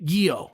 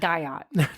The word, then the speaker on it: Guyot: Just say Guyot. Okay. And now the next T is silent. Okay, so the next time you're at a restaurant. It's not Guyot.